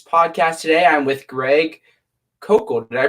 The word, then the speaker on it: Koukl: the adhering apologetics podcast today I'm with Greg cocoa did I pronounce that correct perfect so we there we